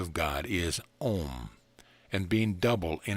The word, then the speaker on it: om: of all sounds yes om om pronounced like o in on not like o in home prolonging the consonant and